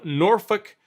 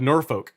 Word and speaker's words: Norfolk: oh you live in Norfolk he's like it's a Norfolk I'm like it's spelled with a folk on the end he says but yeah it's not pronounced that way it's Norfolk all right